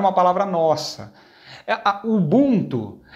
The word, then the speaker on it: Ubuntu: Algumas pessoas falam Ubuntu, mas é Ubuntu a pronúncia dela.